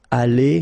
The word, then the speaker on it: allée: But then phonetically it doesn't exist, all right? So it's allée here and then allée here, the way you pronounce it.